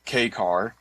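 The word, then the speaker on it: kei car: He's one of the largest uh I guess I don't know what key What is k e i, Tim? What is that? Uh that's it's pronounced uh K car and uh that is a classification of vehicle in Japan.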